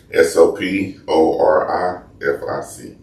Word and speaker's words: soporific: How do you spell it? S O P O R I F I C.